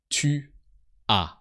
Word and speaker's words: tu as: And we also have tu as. So with tu, you always add a silent S.